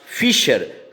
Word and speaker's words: fissure: There is फिशर ऑन the earth. Spelling देखिए, FISSURE, इसका उच्चारण होगा फिशर।